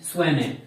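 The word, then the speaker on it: Tshwane: Pretoria का आजकल नया नाम है स्वाने, स्वाने, टी साइलेंट है इसमें, TSWANE, स्वाने, प्रिटोरिया को भी कहते हैं।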